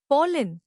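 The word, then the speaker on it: pollen: पोलन नया लफज़ पॉलिन इसको तोड़ते हैं। पोले जोर पॉल पर है।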